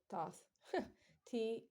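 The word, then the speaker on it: Thoth: EG Egypt so t h o t wait to t h o t h would have just been pronounced tot t o t because the H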